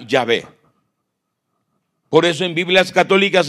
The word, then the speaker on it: Yahvé: pronunciarlo y salió yahvé se escribe Jehová y se pronuncia yahvé por eso en Biblias